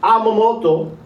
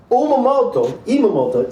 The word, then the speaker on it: Emoto: Understanding there's a Japanese scientist named Masamune Emoto. Don't ask me to spell it. I'll say it again. Masamune Emoto.